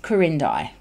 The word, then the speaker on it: Corindai: Now it's pronounced Corindai, okay?